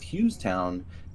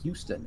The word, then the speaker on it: Hughestown: detailed printouts very often her mispronunciation of hughestown earlier seems to be carried over too she keeps saying houston and on the map that's how it's written out um you she